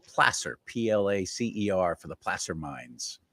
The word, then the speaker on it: Placer: It's all in this county called Placer, Placer, for the Placer mines.